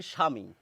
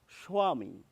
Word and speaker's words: স্বামী: তো আমরা কি করি বাংলা প্রমিত উচ্চারণে এই ব এর উচ্চারণ করি না আমরা বলি স্বামী স্বামী কিন্তু আপনি যদি